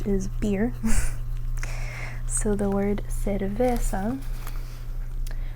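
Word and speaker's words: cerveza: So the word cervesa, see it's c e and you pronounce it like se. And then when it's c a it's ca.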